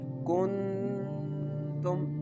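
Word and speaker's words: كُنتُمْ: You have to feel when you put your finger on your nose and pronounce this letter like kuntum. During the pronunciation of this word, you can feel the sound is going into your nose.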